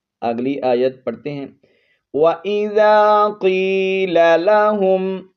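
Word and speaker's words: قيل: وَإِذَا قِيلَ لَهُمْ، قاف کو موٹا پڑھیں گے، یا حرف مدہ ہے، 1 الف کی مقدار لمبا کر کے پڑھنا ہے.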